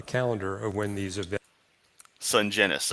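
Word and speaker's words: Sungenis: Sungenus. Okay, so it's properly soft G like in GIF.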